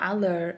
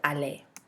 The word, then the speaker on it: aller: want to remember what the pronunciation in French the ER at the end of the word makes it sound more like a why a it's not alert it's a delay this is an irregular